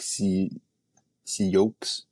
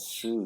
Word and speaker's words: Sioux: So City, but it sounds like it's spelled like C yolks. No, you pronounce that Sue, you dumbass. You pronounce that I, Sue. dude, I don't know. It's like I the care. Sioux tribe, like the Indians, the Sioux tribe.